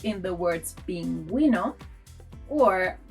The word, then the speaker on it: pingüino: As a result, we get a smiley U, like in the words pingüino, or bilingüe. Bilingüe. Bilingual. If we skip the spell, these words will sound pinguino or bilingue, and we don't want that.